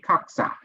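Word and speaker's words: Kokza: K-O-K-Z-A, Koksa. Right? Okay.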